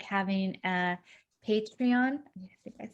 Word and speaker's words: Patreon: start like having a patreon i think i said it wrong i don't know i always saw it pantheon but it's patreon account um so look